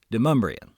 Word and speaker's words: Demonbreun: In Middle Tennessee, we pronounce his last name Demonbreun.